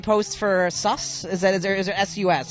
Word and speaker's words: Sus: Is there SUS?